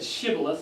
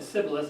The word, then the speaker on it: Shibboleth: Yeah, some couldn't say, some said Shibboleth and some said Sibboleth, and you can tell which ones, who they were by the way they had a hard time pronouncing it.